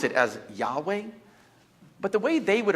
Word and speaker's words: Yahweh: And you would maybe pronounce it as Yahweh, but the way they would have pronounced it wouldn't have been that way because it didn't have vowels. And so it would have been pronounced more like a breath, more like Yahweh, Yahweh, Yahweh.